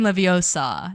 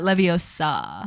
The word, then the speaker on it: Leviosa: It's Wingardium Leviosa, not Leviosa.